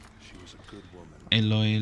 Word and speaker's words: Aloy: It's Aloy. Aloy. She was a good woman. Aloy.